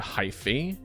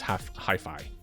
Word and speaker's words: hyphae: Like the AE in Latin is pronounced with an I. So it's, instead of hyphae or hyphae, it's hi-fi. So whenever he pronounced it that way, I was just like, that's not how you say it! Because it's the AE makes the I sound.